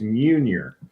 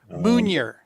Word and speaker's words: Meunier: It's Meunier. Meunier. The best way I can tell you, if you've ever seen it spelled out, you'll never say it right again because it looks funny. But what we always tell people is it rhymes with junior.